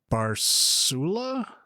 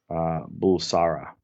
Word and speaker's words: Bulsara: It's like Farouk Barsula. Is that what it is? Is that close? Yeah, it's Farouk Bulsara.